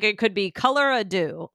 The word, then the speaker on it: Colorado: And it's Colorado. Colorado.